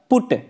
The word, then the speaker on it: put: बट का उच्चारण हम लोग बट पढ़ते हैं, वहीं पर PUT पुट का उच्चारण पुट करने में विद्यार्थी दिग्भ्रमित है। स्टूडेंट कहता है कि सर आपने हमको BUT बट पढ़ाया तो PUT पट होना चाहिए ना, लेकिन आप कह रहे हैं BUT बट और PUT